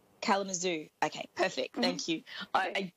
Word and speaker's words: Kalamazoo: how I'm gonna pronounce that how do you pronounce it to me it's Kalamazoo Kalamazoo okay perfect thank you I it's just with